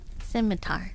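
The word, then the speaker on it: scimitar: yeah it's a curved sword thank you size pronounced Sim simitar okay thank you thank you thank you thank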